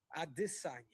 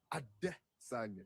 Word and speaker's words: Adesanya: Can you say Adesanya? Adesanya. Yeah, I think it's the emphasis on that. But just say it without go Adesanya.